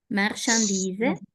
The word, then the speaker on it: marchandise: Interior interior le transporte de marchandis marchandise acuérdate que la ch suena marchandise situe sur la ribe